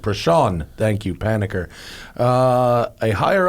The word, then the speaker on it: Prashant: I mispronounced this poor guy's name like 6 times in a row because it's not spelled. Prashant, thank you, Panicker.